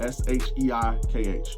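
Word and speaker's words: SHEIKH: you also have a an app called Chic it's spelled s-h-e-i-k-h Sheik you go on it's the same premise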